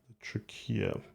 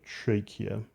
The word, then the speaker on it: trachea: got the bronchi and the trick here or the trachea whichever pronunciation you prefer and these cubes carry